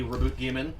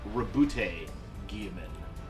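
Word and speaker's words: Roboute Guilliman: And then in a recent video, another voice actor pronounced it as Reboot Gaiman, Oh. which is, I don't know how I feel about the E not being silent.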